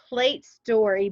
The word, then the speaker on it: Pl8 Story: You also have a podcast, Trista's Plate Story, but it's spelled different. It's PL, the number 8, and then story, but you say it's Plate Story Podcast. And it's like a license plate.